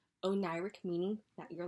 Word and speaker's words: Oneiric: you know what i mean anyway so it's pronounced oh ny rick o'nairec meaning that you're like in a dream-like state